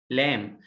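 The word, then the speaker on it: lamb: ليدر ال بنطقه لايك او لام، البي سايلنت طبعا لايك لام.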